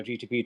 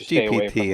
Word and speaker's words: GPT: You know, uh, you know, I didn't I didn't say, you know, chat, you know, GTP told me it's GPT.